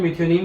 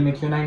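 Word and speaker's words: methionine: Amino acid में हम सबसे पहले एसेंशियल अमाइनो एसिड जो है डीएल मिथ्योनिन को लेंगे, ठीक है। डीएल मिथ्योनिन, डीएल मिथ्योनाइन, अलग अलग लोग अलग अलग प्रोनाउंसिएशन करते हैं इसका, ठीक है।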